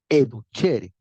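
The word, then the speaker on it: educere: el lenguaje latino clásico educhere se pronuncia educhere significa sacar afuera comer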